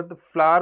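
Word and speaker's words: flour: Basically आप लोग फ्लोर बोलते हो, फ्लोर नहीं होता वो फ्लावर होता है, उसकी प्रोनाउंसिएशन अगर ढंग से पढ़े।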